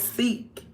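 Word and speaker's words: Sikh: Oh, it's it sound like it says seek, but it's spelled s i kh.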